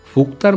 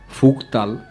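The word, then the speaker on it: Phuktal: 4টি নামে একে ডাকা হয়: ফুকতাল, ফুকতার, ফুকতার, ফুকতাল। এই ফুকতার মনস্ট্রির একজন লামার সাথে কথা হচ্ছিল। তাকে জিজ্ঞেস করলাম এর আসল উচ্চারণ কি। উনি বললেন 4টিই ঠিক।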